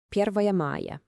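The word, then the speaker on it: Первое мая: Okay, listen closely to how this is pronounced. Первая мая.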